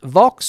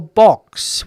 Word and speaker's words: Vox: Is Vox pronounced Vox or box? Well, if you speak Spanish, uh, Al, it would be box because the V and the B, there's no, uh, uh, distinction between the two sounds, baka or baka.